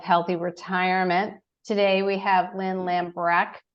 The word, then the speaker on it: Lambrecht: retirement today we have Lynn lambrecht we pronounce the T at the end I'm told so I